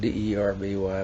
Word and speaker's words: Derby: I think it's spelled D-E-R-B-Y, but it's Derby.